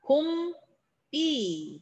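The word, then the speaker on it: 봄비: 자, 봄, 삐. 된소리 대기 일어납니다. 앞말의 받침이 울림소리였거든요. 자, 얘도 마찬가지죠.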